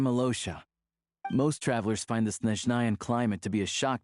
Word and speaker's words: Snezhnaya: Oh, it's pronounced Snezhnaya.